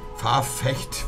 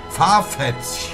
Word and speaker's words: Farfetch: Farfetch. Sagt ehrlich, das ist ein komisches Wort zum Aussprechen. Sagt jetzt ehrlich. Nee. Farfetch. Nimm einfach SCH am Ende. Das S wird aber nicht geschrieben. Farfetch.